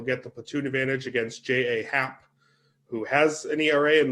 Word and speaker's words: J.A. Happ: Happ, really, I'm glad that you pronounced his name J.A., Eric, because it's the incorrect way, but it's actually the correct way. Because you don't get to say your name's J Happ when it's J.A. Happ.